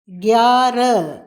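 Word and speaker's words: ग्यारह: அடுத்தது 9ன் ஒன்பது நவ் நவ் 10 தஸ் தஸ் 11 கியார கயார இங்கு கயார என்று உச்சரிக்கும் போது ஹவை மென்மையாக உச்சரிக்கின்றோம். எழுதும்பொழுது ஹவை முழுமையாக போடுகின்றோம். எனவே எழுதும்போது மறக்காமல் ஹா போட வேண்டும். சொல்லும்போது ஹாவை சற்று அடக்கி உச்சரிக்க வேண்டும் யார என்று 12 பார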